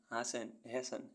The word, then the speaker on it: hasten: ऐसे वर्ड्स जिनमें alphabet T silent रहता है. OFTEN often means प्रायः. HASTEN hasten means शीघ्र.